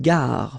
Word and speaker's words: gare: Okay, remember when you get these G and A together, the sound is g-g, ga, ga. Une gare.